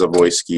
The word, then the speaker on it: Zawoski: So my name is Zawoski. Probably it should be pronounced Zawoyski. It's a Czech name. It's a Czech Polish name.